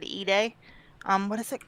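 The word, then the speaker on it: Ide: Joe um it's called it's spelled eyed but it said eay um what is it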